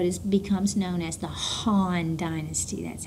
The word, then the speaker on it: Han: And uh Bong will establish what is becomes known as the Han dynasty. That's how you pronounce that.